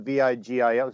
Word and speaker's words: Vigil: His name is spelled Vigil. So I always thought it was like Eddie Vigil. And he's like, oh, it's Vigil.